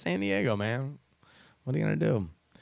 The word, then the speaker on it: San Diego: giggle on the inside every time you pronounce San Diego as sandy I go hey man I lived there let's just say this weekend sometimes I say it's San Diego man what I'm gonna